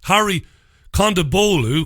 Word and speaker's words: Hari Kondabolu: guy called harry khan let me pronounce harry's throning properly this is very ironic indeed hari kondabolu kondabolu i think he made